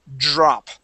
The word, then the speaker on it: drop: we we make sort more of a jur so it's a J sound almost so drop Dr Dr okay so